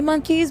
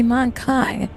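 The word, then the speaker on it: Mon-keigh: Like I get it, it's supposed to be monkeys, but it's supposed to be like in lore it's supposed to be Monkai. Like, it's spelled Kai for a reason, so that we don't have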